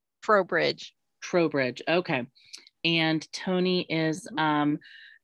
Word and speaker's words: Trowbridge: So if you could pronounce it, that would be great. Sure. It's Trowbridge.